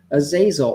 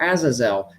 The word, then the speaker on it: Azazel: these are being prepared for the hosts of azazel or azazel i've heard i've heard it pronounced both ways so that they may take